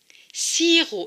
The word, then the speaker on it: sirop: On l'écrit en bleu pour dire qu'elle ne se prononce pas.